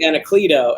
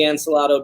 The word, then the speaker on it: Anacleto: But it's actually J. Anacleto. And I was like, but keep going with the Ancelato Bueller.